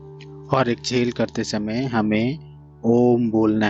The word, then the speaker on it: ओम: इसमें हम 2 शब्दों का उच्चारण करेंगे एक्सेल करते समय। पहला ओ और दूसरा मा। ओ को हमें 2 से 3 सेकंड तक ही उच्चारण करना है। उसके बाद मा को जितना देर तक आप एक्सेल करेंगे पूरे उस टाइम तक आपको मा का उच्चारण करना है, कुछ इस तरह से।